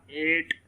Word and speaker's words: eight: हाँ, एक दो असूल है कि अगर जी एच आ जाए, ठीक है, जिस तरह 8, ठीक है, EIGHT 8, ठीक है, तो वहाँ पर GHT बिल्कुल ही साइलेंट हो रहा है, ठीक है।